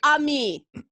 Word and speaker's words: Amy: welcome so you'll say amy and i'll say ami and then we'll be bilingual i'll just say ami i'll just make it easier yeah well it's ami accent on the second syllable but go for it